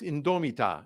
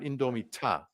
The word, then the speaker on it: indomita: It's indomita, it's not indomita. That's a dead giveaway of a German, that you don't do a dental T.